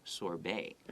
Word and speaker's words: sorbet: But maybe I'll try the mango sorbet. 可是他又说呢，我觉得或许呢，我会想要试试看呢，这个芒果口味的 sorbet 就是雪落了。 So maybe I'll try the mango sorbet. Sorbet, I think, is a European word. 对 That's why the T is not pronounced.